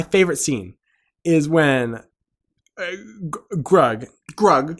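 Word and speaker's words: Grug: scene is when drug drug he gets rhymes with hug I that's how I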